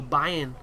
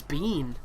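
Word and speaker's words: Biehn: little bit like Michael Bayern in Terminator at the end which apparently the pronunciation of his name is Bean but I'm sorry I refuse to pronounce it like that because it sounds so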